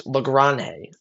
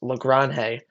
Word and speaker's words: Lagrange: Uh Ryan Weathers and Carlos Lranhe. I believe that is how you pronounce it. I've seen a few different things. I believe it's Lranhe both have looked really good uh for the start of spring training.